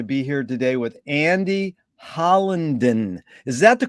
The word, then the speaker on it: Hollinden: a pleasure to be here today with Andy hollandon is that the correct way to pronounce it yes it is yes where in